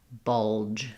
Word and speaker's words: bulge: So for bulge, we have the j at the end. So 1 syllable.